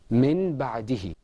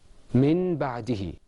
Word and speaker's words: من بعده: This example is usually pronounced min ba'dihi. Min ba'dihi. Now let's pronounce that as it is in the Quran.